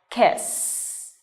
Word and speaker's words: kiss: SS okay no okay so this is an unvoiced sound okay so you touch your throat and you will you won't feel any vibration in your throat when you pronounce this now let's give it a try kiss kiss not Keith okay kiss short shut II remember kiss okay kisses her on her